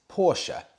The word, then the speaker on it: Porsche: get it wrong and it's true I've been pronouncing Porsche wrong my whole life it is in fact Porsche even Porsche confirm this and similarly with Himalayan